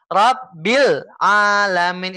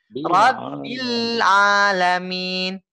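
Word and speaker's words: رَبِّ الْعَالَمِينَ: Bilnya tekan dulu Pak ya. Jangan langsung dinaikin. Jangan langsung dioper ke huruf A-nya langsung. Seperti ini contohnya. Rabbil Alamin. Itu kaget. Rabbil Alamin. Itu kaget Pak ya. Tapi harus ditekan bilnya. Disempurnakan. Rabbil Alamin.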